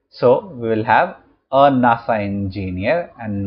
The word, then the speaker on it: NASA: not said an as NASA is pronounced as a word and not as a series of letters so we will have a NASA engineer and not an